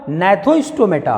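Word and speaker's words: Gnathostomata: एक का इन्होंने नाम दे दिया एग्नेथा, और दूसरे का इन्होंने नाम दे दिया, जी साइलेंट होगा, नैथोस्टोमेटा, नैथोस्टोमेटा।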